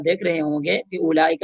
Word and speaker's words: أولئك: اولئک میں آپ دیکھ رہے ہوں گے کہ اولئک میں حمزہ کے بعد واو موجود ہے، لکھائی میں موجود ہے، پر اس کو ادا نہیں کریں گے، تلفظ نہیں کریں گے، او نہیں کریں گے.